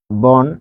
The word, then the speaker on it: বন: তাহলে এখানে ও হয়, তাহলে বন যখন আমরা লিখছি তখন এটির উচ্চারণ কি হচ্ছে বোন, তাই না, কারণ একটি মাত্র অক্ষর, এরপরে কি আরো আছে, একটা সিলেবলই আছে এখানে বন।